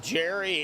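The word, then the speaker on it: Gerry: I called him Gary for the longest time. Come to find out it was Jerry. So it's spelt differently. I'm not used to seeing Jerry spelt with a G.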